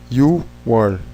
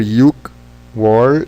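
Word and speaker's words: 유월: Em junho, You-war, falando, né, aqui, e outubro, She-war, na verdade, deveriam ser Yuk-war e Ship-war, She-war, You-war, mas são muito difíceis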